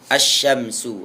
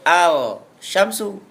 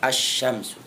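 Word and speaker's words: الشمس: jawaamin yang keedelan syin asyamsu ah di sinilah k dinamakan syamsnya karena bacaannya seperti asyams matahari as tidak boleh Al Syamsu tetapi bacaan yang benar asyamsu attasi yang kesemb Shad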